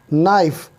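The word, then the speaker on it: knife: ठीक इसी तरह से नाइफ, नाइफ में बेशक के है शुरू में, लेकिन इसकी आवाज़ नहीं निकलेगी।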